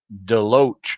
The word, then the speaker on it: Deloach: It's Deloach, not Deluch.